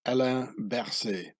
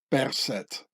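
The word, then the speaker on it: Berset: swiss confederation 2019 but the name should be pronounced percet as the swiss germans would pronounce it so i have a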